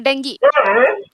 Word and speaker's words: dengue: So correct pronunciation is dengue. Dengue. Yes. Both American as Okay. well as British. Yes. They both pronounce as dengue. Okay. Yes. We Indians we pronounce it very wrong. We say dengue. It Hmm. is not dengue.